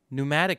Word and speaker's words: pneumatic: We also got into pneumatic craft. The P is silent, even though if the P was silent, why would you even freaking put it there?